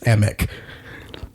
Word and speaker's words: Emick: Thank you for saying it right. It's Emick.